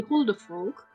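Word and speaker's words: huldufólk: then you have the holder folk so in this case you pronounce the L in front of the K it's not like in English where you say folk but it's folk yeah older folk um means the hidden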